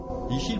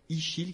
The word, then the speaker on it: Ixil: Ichil, bonsoir.